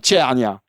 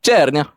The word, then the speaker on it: CERNIA: E r n i a mais ça se prononce tnia. C'est ça. Exactement. Chernia. Là je le dis bien. Comment tu le dis toi ? Comment tu le dis toi ? Chernia.